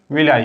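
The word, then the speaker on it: villi: है, जिसको जो है विलाई कहते हैं, विली या विलाई कहते हैं। कहीं कहीं पे विली प्रोनाउंसिएशन है, कहीं पे विलाई है।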